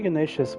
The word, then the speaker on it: Ganesh: hey it's wearing the ganesha's mind also isn't it ganesha are you watching the stream you in cultural swine it's ganesh you don't pronounce the a's in hinduism a